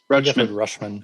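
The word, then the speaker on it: Rutschman: Okay, I wasn't sure if it was Rush or is it Rush or Roosh? Rush. Rushman.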